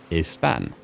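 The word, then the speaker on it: están: they are son and istan son like song without the G and aan think of the nickname Stan for Stanley now add an e in front aan both of the these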